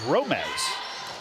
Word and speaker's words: Romes: I think I've been saying Romes. I might have said Romes. I've probably said Romes 60 times and Romes 30 times, but it is Romes.